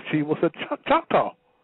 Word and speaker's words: Choctaw: Found out she was a Chickataw, if I'm pronouncing the word right. Right, Choctaw.